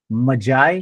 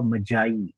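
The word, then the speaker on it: magi: उच्चार केला जात नाहीये स्पेलिंग जे आहेत ना त्याच्याप्रमाणे याचा उच्चार होईल मजाय किंवा मजाई आता बऱ्याच जणांच गडण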